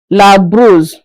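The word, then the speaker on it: brosse: La bruise. The O after the B is pronounced as U not O as we are seeing it on the board.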